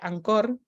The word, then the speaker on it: Anchor: Podemos trabajar con un programa que se pronuncia Anchor, pero se llama Anchor, y que se baja al celular.